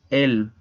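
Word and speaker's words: elles: Y el pronombre es él. Se pronuncia exactamente igual que él en singular. La S también es muda.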